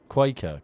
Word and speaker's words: Cuoco: Quaker. Kaylee Quaker.